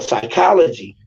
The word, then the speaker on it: psychology: Because it got another silent P there. Why y'all trying to PH. Why would y'all? Why would y'all try to silent me? And that seeing that H don't make the K sound, it make the ch sound.